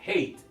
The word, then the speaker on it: hate: La vocal e cuando está sola al final de una palabra no se pronuncia, por esa razón se le llama e muda o silenciosa.